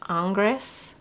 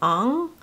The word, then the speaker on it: Ingres: name's a little perplexing I think it's French and it looks like angres but yes I've heard people call it Ong so I'm not sure technically how to pronounce his name but I have a